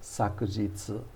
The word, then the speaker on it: 昨日: When you're written in kanji, it's often pronounced sakujitsu, sakujitsu, and that's very formal.